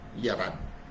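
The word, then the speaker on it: יָרַד: Sa Hebrew, nakasulat po o pagkabigkas ay yarad.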